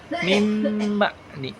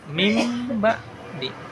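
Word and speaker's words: مِن بَعْدِ: Lafaz min ba'di itu harus dibaca dengan mim ba'di. Mim ba'di.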